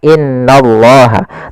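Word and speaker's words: إِنَّ اللَّهَ: Langkah membacanya atau cara membacanya yaitu kita menahan suara nunnya di sini. Maka ditahan sepanjang 2 harakat, tidak langsung dibaca innallaha, tapi ditahan dulu sepanjang 2 harakat untuk menyempurnakan bacaan gunnahnya.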